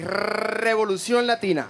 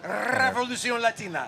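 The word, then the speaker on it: Revolución Latina: Well, first of all, I need both of you to roll your R. So, we got to say Revolution Latina. Revolution Latina.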